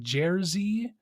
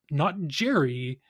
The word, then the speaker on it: Jerzy: Cinematography here is by someone who I don't recognize and didn't think to look up, but their name is Jerzy, not Jerry, Jerzy, Jerzy, Jerzy Zielski.